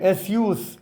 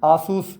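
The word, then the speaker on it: Asus: ആ മൗസും കീബോർഡും കാണുന്നുണ്ട് ആ കമ്പനിയുടെ പേര് എസ് യൂസ് എന്നാണ് നമ്മൾ പലരും ആസൂസ് എന്നൊക്കെ വായിച്ചിരിക്കുന്ന കമ്പനി ആയിരിക്കും എസ് യൂസ് എന്നാണ് അതിൻറെ ഉച്ചാരണം ഡോക്കോമോ ഒരുകാലത്ത് സെക്കൻഡ് പൾസ്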